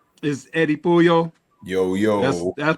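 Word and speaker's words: Eddy Puyol: My guy to my right is Eddie Puyo. Yo yo that's pronounced it right.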